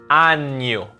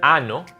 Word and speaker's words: año: Año. It's not ano, it's año.